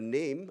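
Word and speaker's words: 林: So again, this character, their name, I'm trying to point my cursor, yeah. So the Lim can be pronounced Lim or Na, depending on whether it's literary or colloquial.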